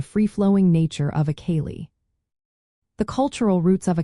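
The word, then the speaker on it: céilí: The term kay is pronounced killy and is used specifically for these social gatherings.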